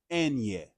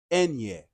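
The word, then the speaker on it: eñe: So the pronunciation, whenever you see an N with a tilde above it, that is pronounced Enye. Enye.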